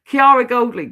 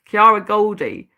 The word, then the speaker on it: Kiara Goldie: I want to say Goldly, but it's Goldie. Kiara Goldie.